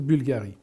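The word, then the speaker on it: Bvlgari: en est et que ça se prononce Bulgarie parce que essayer de prononcer BVL c'est hyper dur donc d'essayer même pas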